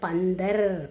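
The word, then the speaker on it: बंदर: ப இன் த இர் பந்தர் அப்படின்னு உச்சரிக்கணும்.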